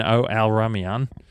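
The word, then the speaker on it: Al-Rumayyan: Now, Yasser bin Al Ramayan, that's how you pronounce it.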